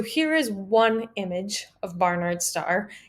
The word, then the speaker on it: Barnard: at a star called barnard star that's not a typo i'm not mispronouncing it it is named for a guy barnard and this is one